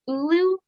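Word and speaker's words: Oulu: but speaking of that your hometown is it pronounced ulu oh yeah okay um they've set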